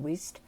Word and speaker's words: Wheesht: I think it's actually pronounced Wheesht.